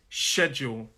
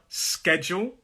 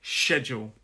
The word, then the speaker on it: schedule: And interestingly there, that SCH has a sh noise. Schedule. Okay? Like schedule. Some people, and I believe in American English, it is schedule. But I say schedule.